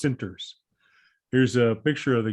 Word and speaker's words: Centers: It's pronounced Center. It's written Centers, but it's pronounced Sinters.